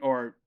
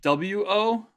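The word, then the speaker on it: を: You'll find it written in here, Romaji sometimes as W-O. That's what I thought. Okay. It's not pronounced wo. It's pronounced O.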